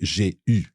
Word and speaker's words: eu: J'ai eu. J'ai eu. So EU is pronounced E, except for the past participle of avoir, which is U.